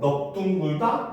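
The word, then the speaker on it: 넓둥글다: 그게 바로 넙둥글다, 넙죽하다. 이거 잘못했는데 리을 비읍이죠. 넙죽하다. 이것도 역시 리을 비읍이죠. 네. 넓다. 넓다인데 넙둥글다, 넙죽하다 이렇게 됩니다. 요것만 이제 예외로 비읍으로 발음하는 거예요.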